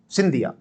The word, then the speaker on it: शिंदे: viewers comment section में कहते हैं साहब सिंधिया नहीं है शिंदे है भारत के उत्तरी क्षेत्र के जो लोग हैं इनका उच्चारण अलग प्रकार से हम लोग सिंधिया बोलते हैं आप लोग सिंधे बोलते हैं जैसे आप पुणे बोलते हैं हम पुना बोलते हैं उच्चारण का फर्क है व्यक्ति एक ही है तो महादजी शिंदे को